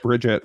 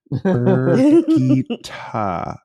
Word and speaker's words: Birgitte: I mean, you're also one that thought it was Bridget for like until like 3 months ago. I thought it was Brigitte.